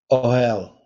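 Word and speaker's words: אֹהֶל: now hebrew 168 is that oh hell or how pronounced that yeah where's this um it's pronounced oh hell yeah it's just it's just a guttural sound there at the beginning can that also not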